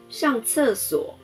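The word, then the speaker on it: 上厕所: 上厕所，上声调第四声，厕声调第四声，所声调第三声。上厕所，上厕所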